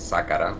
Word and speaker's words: Zacara: Mi nombre es Zacara, para que lo pronuncie bien la próxima vez.